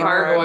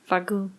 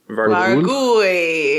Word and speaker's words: Vargouille: I'm going to go with Vargoyle. Well, it's Vargouille. Vargouille. Vargouille. If you're Andouille sausage, right?